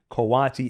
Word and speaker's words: coati: And Daniel is not mispronouncing coyote. Coati is a different animal.